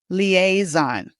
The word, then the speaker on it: liaison: This French word is said in English like this liaison. All right, that middle part is a and it rhymes with play.